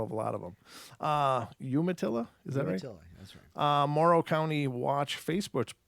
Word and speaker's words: Umatilla: and later the Umatilla moral County watch Umatilla Umatilla okay thank you I appreciate all that corrections all these regional pronunciations you imagine how many words I have